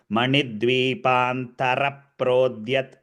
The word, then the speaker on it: मणिद्वीपान्तर प्रोद्यत्: In Sanskritam, there is no ir. If it was a ir, there would have been a halant in your script. Manidvipantara prodyat. It is tara prodyat. Ra needs to be pronounced fully.